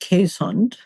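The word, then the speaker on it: Keeshond: But in case there are any dog breeders listening, it's pronounced Quesund.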